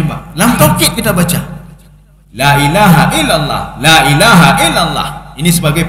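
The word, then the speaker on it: لا إله إلا الله: Harus hati-hati kita dalam pengucapan la ilaha illallah. Kalau la-nya pendek, itu maknanya taukid. La ilaha illallah, la ilaha illallah.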